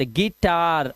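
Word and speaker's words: guitar: जब किसी वर्ड में यू आई आएगा तो यू आई का उच्चारण आपको इ करना है। जैसे ई ध्यान रखना यू है लिखा लेकिन आवाज देखो इ क्यों आई आया हुआ साथ में द गिटार।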